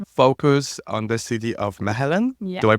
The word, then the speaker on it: Mechelen: And Fedora, your thesis focus on the city of Mechelen. Yeah. Do I pronounce it right? Mechelen, yes.